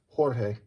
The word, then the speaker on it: Jorge: But it's not really, it's really not George, it's Jorge.